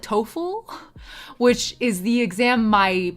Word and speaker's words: TOCFL: And you can guess that the E in TOEFL stands for English and the C in TOEFL, is how you say it, stands for Chinese.